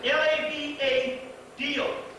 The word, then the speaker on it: Lavado: It's L-A-V-A-D-O. Gotta pronounce it right. Lavado.